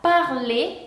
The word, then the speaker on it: parler: En francés, cuando tenemos una palabra que termine con ER, ER, no se va a pronunciar R, sino que se va a pronunciar E. Por ejemplo, la palabra parler, que significa hablar.